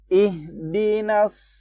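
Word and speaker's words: اهدنا: Orang tuh biasanya bacanya ih. Larinya ke ha yang tipis. Bukan. Ih. Tenggorokan bagian bawah ha ini.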